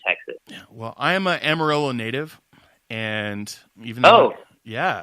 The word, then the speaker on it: Amarillo: change your world well in Spanish the Double L is pronounced as a wife out right Mario and if you're going to call it Amarillo I expect that you